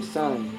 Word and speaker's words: sine: In electricity, there's a sine wave. Come on, Ashton. S-I-N-E. Play music. Ooh, kind of close to sin, huh? In math, too. That's not a sin, that's a sign.